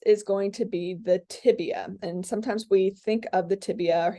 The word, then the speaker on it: tibia: will be lateral and i hope i don't hear you say tibula amphibia no no let's get those names right those are the common mis mispronunciation it is tibia okay so um this